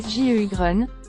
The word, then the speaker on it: Sjögren: qu'est-ce que c'est le syndrome de gougeerosie Grun prononcé sju Grun qui fait partie des syndromes sec est une